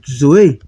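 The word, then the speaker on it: ζωή: Então aqui você vai pronunciar como zoe, zoe, não é zoe, é zoe, zoe, tá bom?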